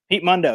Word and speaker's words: Pete Mundo: The morning show host, Pete Mundo, is that right? Pete Mundo, yeah.